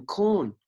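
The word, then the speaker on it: Kaun: K-A-U-N, corn. Okay. Yeah, that's how they showed me that they would spell it in our language.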